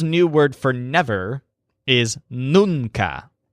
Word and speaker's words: nunca: word for never is nunca which stresses the syllable noon he's concluded that noon